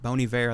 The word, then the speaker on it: Bon Iver: But that's actually like a really good song with Bon Iver? Yeah, Bon Iver. I think that's how. Yes, that's how you say it.